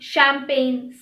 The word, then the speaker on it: champagne: Examples are align, foreign, design, champagne, sign.